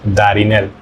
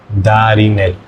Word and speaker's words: Darel: In Spanish that would be like a soft d like da really like soft for example my name is darel. So that is pronounced darel da.